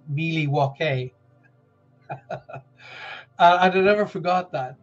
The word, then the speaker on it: Milwaukee: was Alice Cooper and he said it's actually pronounced Miley walkie and I never forgot that by the way